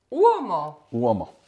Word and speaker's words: Uomo: teď nevím, jak se vyslovuje... Uomo <i>(vyslovujeme, jak se píše)</i>.